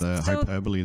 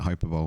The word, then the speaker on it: hyperbole: I had to correct a friend with hyperbole the other day. They pronounced it hyperbole, and I was like, it's hyperbole.